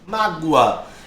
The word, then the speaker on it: mágoa: a esse o aqui perceba que ele tem som de u percebeu ninguém diz mais agora as pessoas dizem mágoa então se ele tem